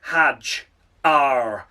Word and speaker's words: Hadjar: It is, of course, Isaac Hadjar. There we go. It's Isaac Hadjar, of course.